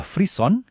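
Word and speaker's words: frisson: Istilah ilmiahnya adalah freeon. Bacanya freeon ya. Ini asalnya dari kata Prancis yang artinya menggigil.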